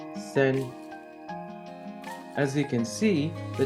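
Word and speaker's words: 川: kanji for River chinese-based pronunciation of this kanji is Sen as you can see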